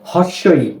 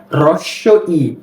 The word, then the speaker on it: হ্রস্ব ই: এরপর স্বর আ, এই বর্ণটাকে আবার অনেকে বলে হর্ষ ই, না এই বর্ণটির উচ্চারণ হচ্ছে হ্রস্ব ই, কি হ্রস্ব ই।